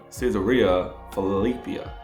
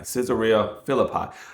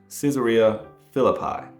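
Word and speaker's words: Caesarea Philippi: Caesar Ria Filipia.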